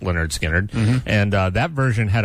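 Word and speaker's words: Lynyrd Skynyrd: was originally released was on Leonard Skinner's first album, pronounced Leonard Skinnard.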